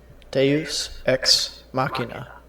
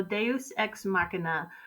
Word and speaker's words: deus ex machina: they use ex machina I put this video in here to make sure that I was saying it correctly Deus macchina deus ex machina davis ex machina all right we get the idea so deus ex machina